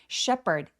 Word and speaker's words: shepherd: 할 때이 PH는 원래는 phone처럼 F 발음을 하는데요. 여기서는 P 발음으로 H 발음이 묵음됩니다. Sheperd SH는 입술 쭉 내밀고 쉐로 소리 또렷하게 발음해 주세요.